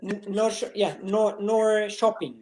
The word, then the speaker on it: Norrköping: Is that how you pronounce it? Nor shopping.